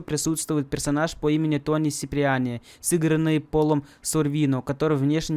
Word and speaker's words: Сиприани: Его фамилия Сиприани один раз неправильно произносится как Киприани в GTA 3 Definitive Edition в миссии Мсда.